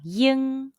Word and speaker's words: ying: pinging the pronunciation is it's like the sound of ing in the english word king but the g sound is barely pronounced say now mimic the